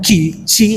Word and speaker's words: Qi: Q yang ketiga adalah Qi dalam bahasa Cina, Qi bacanya, Qi atau Qi artinya energi.